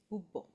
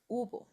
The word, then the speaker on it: hubo: Hub. And we don't pronounce Let me repeat it here. We don't pronounce the H, right? No, it's it's not hub. It's ubo.